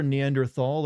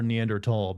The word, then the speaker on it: Neanderthal: Do you prefer Neanderthal or Neanderl? Because technically it's Neanderl, but I've always like pronounced the th sound in there until recently.